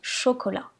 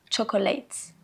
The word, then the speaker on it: chocolat: Par exemple, prenons ce mot en français : on le prononce "chocolat". Mais j'entends beaucoup d'anglophones, par exemple, qui vont le prononcer "chocolate", "chocolate", "chocolate" avec le son "tch" au début. Non, même si le mot se ressemble et s'écrit de la même façon, il ne se prononce pas pareil.